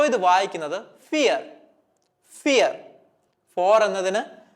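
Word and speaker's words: vier: പറയുന്ന ആൽഫബെറ്റിലാണ് സ്റ്റാർട്ട് ചെയ്യുന്നത് വി വരുമ്പോൾ നമ്മൾ ഉച്ചാരണ വ്യത്യാസം പഠിച്ചിട്ടുണ്ട് എഫ് ആയിട്ട് ഉച്ചരിക്കണം എന്നുള്ളത് സോ ഇത് വായിക്കുന്നത് ഫിയർ ഫിയർ ഫോർ എന്നതിന് ഫിയർ എന്നാണ് ജർമനിൽ പറയുക ഫിയർ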